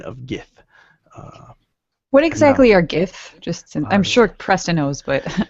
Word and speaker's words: Gith: What exactly are Gith? I'm sure Preston knows, but I personally don't. Yes, I will show you a picture. Well, some people pronounce it Jith.